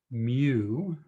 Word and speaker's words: mu: some of you may have seen before it's pronounced mu and it's a basically it's a u with